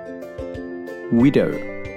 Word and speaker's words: widow: Widow. The stress is on the I.